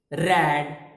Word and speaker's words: read: Spellings are same, R-E-A-D, R-E-A-D, R-E-A-D. But for the past form and past participle form, we pronounce it read, not read. Read is only when it is in present form.